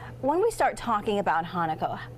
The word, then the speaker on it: Hanukkah: So the one sound that English doesn't have a letter for is cha. Try it with me. Cha. Cha. So say it with me. Hanukkah. Hanukkah. You all get an A.